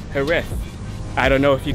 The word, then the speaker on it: Jerez: We are now at Jerez, or as the locals say, Jerez.